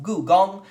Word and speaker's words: Gugong: Okay, so the number 5 game on my want to play list is Gugong, or otherwise pronounced Gugong, as one would say in Mandarin.